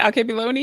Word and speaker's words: Alkebulan: How do you pronounce it? Alkebulan?